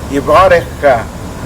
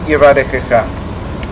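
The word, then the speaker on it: יְבָרֶכְךָ: So we accentuate the bit and we rest the Sheva under the first Chaf, and it's pronounced Yebarekh-kha, not Yebarekh-kha.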